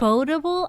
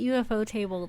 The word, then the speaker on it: ufotable: ufotable? I've always called it UFO table this whole time. I was going to make that Oh my joke, but yeah, God. it's definitely ufotable.